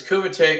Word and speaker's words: Kumite: So was Kumite, is Kumite the right way to pronounce it? Yes, it's Kumite.